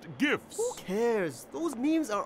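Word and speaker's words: GIFs: then have super strikas Jeffs they're called Jeff's coach actually it's pronounced gifts who cares those memes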